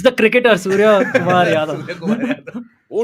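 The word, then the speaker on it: Suryakumar Yadav: Surya Kumar Yadav. Oh, not bad. You got it correct this time. Yeah. I remember once saying Surya Prakash Yadav or something.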